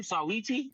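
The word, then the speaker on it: Saweetie: Sawiti?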